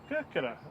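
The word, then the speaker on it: Κέρκυρα: Kirkira? Is that right? Kirkira is Corfu, Yeah. It's the Greek pronunciation.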